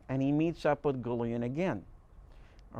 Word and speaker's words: Gullion: All right, and he actually got me to pronounce the guy's name right, because I used to pronounce it Gullion, and he says, "No, Jim, it's Gullion.